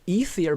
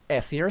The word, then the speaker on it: Ethier: Justin, I was pronouncing Ether, but he's saying Ether, so I was pronouncing it wrong all the time.